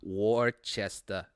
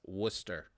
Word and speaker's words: Worcester: pronouncing where digikovic's from it's not warchest it's worcester so we get people